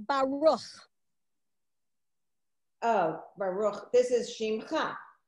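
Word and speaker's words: ברוך: So that is often at the end of a word to get you that ha sound at the end of a word, like in the word Baruch, the beginning of a blessing.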